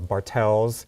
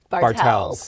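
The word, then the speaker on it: Bartell: it's actually Fred Meyer or Bartels that's one of those weird ones that you can actually get away with saying Bartels even though it's Bartel drugs but it's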